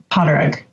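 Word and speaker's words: Pádraig: Potterig. Potterig, okay. It's the Gaelic for Patrick, but it's Potterig. Potterig. It depends on the region. In some areas, the D is silent. In some, it's not.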